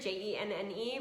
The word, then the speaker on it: Jenne: jenny is it genie it's jen that's it i know i spell it weird j-e-n-n-e but it's just jen like short for jennifer um but jen jen